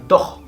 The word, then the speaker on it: doch: Por ejemplo, al final de palabra suele sonar como una J. Una J como la que conocemos nosotros. Como por ejemplo la palabra doch, que es una palabra con la que estás afirmando cosas cuando te dicen ¿has hecho algo? Y tú, doch, doch, lo he hecho.